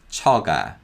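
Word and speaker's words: 처가: vowel ah so it's and again kyok becomes a voiced g sound as it comes after the vowel sound so this is chaga chaga next we have kui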